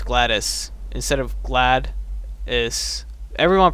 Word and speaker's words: GLaDOS: no sense again that's how you're supposed to pronounce glattus instead of glad is everyone pronounces it a gladus but apparently it's like GLaDOS GLaDOS GLaDOS yeah yeah ooh they're coming on